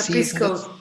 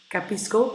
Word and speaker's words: Cappisco: Capisco. It's like Capisco in Italian, I understand. Capisco, but then with double P, because it's an app with double P.